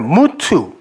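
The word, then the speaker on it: מות: 무투. mem하고 타우, 말씀의 완성. 이렇게 써놓고 이걸 죽음, 무투라고 읽는단 말이에요.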